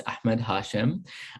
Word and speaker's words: Ahmed Hashem: My name is Ahmed Hashem, or for those of you who can pronounce it correctly, it's Ahmed Hashem.